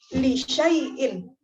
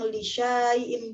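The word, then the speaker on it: لِشَيْءٍ: Kalau di mushaf awas kan, karena di atas huruf alif itu ada tanda sifir, makanya huruf shinnya tidak dibaca panjang. Ya kan? Dibacanya li syai'in. Bukan dibaca panjang li syai'in, bukan.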